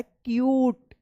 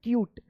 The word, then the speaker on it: cute: क्यूट, ठीक है ना क्यूट। तो इससे पहले वाला वोवेल अगर U आया है तो इस U का U उच्चारण होता है, इसलिए क्यूट इसको पढ़ा जाएगा, क्यूट, ठीक है।